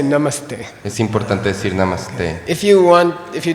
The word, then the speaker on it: namaste: is their name so if you put a short a and then the word you is nam Namaste okay if you want to butcher or mangle this word you can say namaste then you're saying you name you say me it